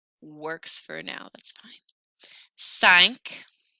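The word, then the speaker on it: cinq: for now that's fine sank sank sounds like the Titanic sank a little bit CE say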